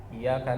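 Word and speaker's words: إِيَّاكَ: keliru Dengan cara membacanya tanpa memberikan penekanan tasdid jadi cara bacanya adalah iaka kita tahan dulu jangan sampai kemudian tasdidnya hilang iyaka na'budu wa iyaka nastain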